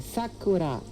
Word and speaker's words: Sakura: This one here is a Sakura. Sakura. Sakura. Sakura. The emphasis would be on the first syllable.